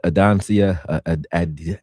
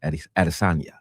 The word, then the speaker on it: Adesanya: He said Israel Adansia Adesanya. I don't know how to say his name. Adesanya.